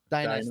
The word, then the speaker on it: Dionysus: Dionysus. Thank you. I knew I was going to miss a syllable somewhere.